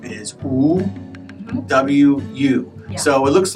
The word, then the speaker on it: Wu: should say it as Wu. So yeah. Wu. Wu, it's like W-O-O, the very... Or maybe even just all the O's. Wu. Wu, yeah, Wu, and the second tone.